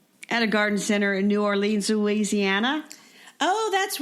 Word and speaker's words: New Orleans: So that kind of brings us to zones, and how different your zone is from New Orleans, which, by the way, they pronounce it Norlands. Nolans.